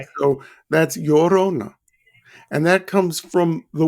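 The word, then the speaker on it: Llorona: I think this one's a little bit easier for me to say the laurona. Well, the two L's in Spanish is pronounced like a Y. Okay. So that's Yorona.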